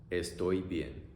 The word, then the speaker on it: estoy bien: And in Spanish, you say, estoy bien. Pronunciation, oy, ie. Oy, ie. Estoy bien.